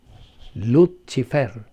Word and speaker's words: Lucifer: Actually, sa Latin, good, ang pag-pronounce ni mo og si, chi. Lucifer. Apan ato naman yun in English, Lucifer.